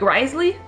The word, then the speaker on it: Wriothesley: written out but like the name when you pronounce it like Risley it sounds cool it